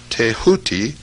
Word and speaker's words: Thoth: scribe of the gods Thoth, pronounced Tehuti.